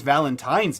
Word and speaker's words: Valentine: It's Valentine's Day with an N and not an M. And if you pronounce it with an M, just unfollow.